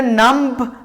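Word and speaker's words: numb: इधर नम्ब B silent होगा, NUM नम बोलेंगे, लिखा बी साइलेंट हो जाएगा।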